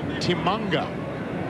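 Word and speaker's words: Tshimanga: Timanga. But they call him Tim, but he prefers Timanga. Am I right?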